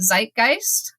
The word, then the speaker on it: Zeitgeist: a player in this zit gist or zeit how do you say it Zeitgeist I should know my